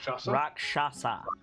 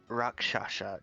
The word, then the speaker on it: Rakshasa: you say that the name of that species rakshasa rakshasa took do i know this make an arcana